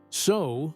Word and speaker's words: sew: The spelling can be misleading. Sew looks like it should rhyme with words such as few or new, but it doesn't. Sew sounds like sew.